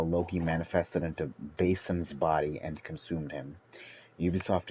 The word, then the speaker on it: Basim: Basim. Basim. Basim is the correct pronunciation, I believe, of how the original people would say it.